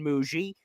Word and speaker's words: Mougey: So it is Darren Mougey. He is the guy that's also how to pronounce the name, Jet fans.